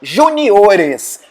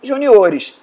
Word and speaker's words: juniores: Algumas palavras acabam tendo modificação na sílaba tônica. É o caso da palavra caráter, que faz plural em caracteres. Também a palavra júnior, né? Ou seja, campeonato júnior, um campeonato de jogadores juniores. Júnior, juniores.